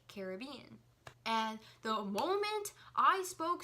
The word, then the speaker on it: Caribbean: And I say, well, it's pronounced Caribbean because I'm from the islands. I'm Puerto Rican. My parents are Puerto Rican. My grandparents are Cuban, and my whole life they've pronounced it to me as Caribbean. And when you say the word Caribbean in Spanish, it's Caribe. So which one does that sound more like? It obviously sounds more like Caribbean.